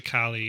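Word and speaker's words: Calle: second building Sasha Cali I don't know how to pronounce it I heard it pronounced I was like yes Sasha Kali is this her first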